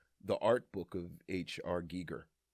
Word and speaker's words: Giger: The I in HR Geiger's last name is pronounced with a long E rhyming with eager like Giger.